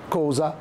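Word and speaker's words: cosa: الاس سونورا زي مثلا كازا، كوزا، ايزولا، فازو، كل ده بتتنطق ز ز ز ز، يبقى الز الاس سونورا.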